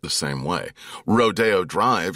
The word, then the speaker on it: Rodeo Drive: Rodeo Drive here in L.A., it's in Beverly Hills, one of the most famous streets on earth, and yet it's spelled like rodeo. But you would get killed in reviews if you said Rodeo Drive.